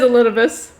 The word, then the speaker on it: Elidibus: elidibus okay he said it okay it is elidibus that zenos hath proclaimed his own flesh is